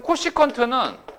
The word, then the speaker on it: 코시컨트: 이건 앞으로 읽어줄 때 어떻게? 코시컨트 이렇게 읽어주면 돼. 그러면 코시컨트는 사인의 역수예요.